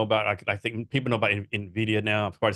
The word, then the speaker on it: Nvidia: like doing good things no you actually said it right A lot of people say Nidia which really grindes my gears go ahead so what